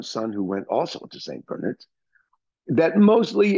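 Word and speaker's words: St. Bernard's: Bernards St Bernards but it's pronounced St Bernards because it's British and it was established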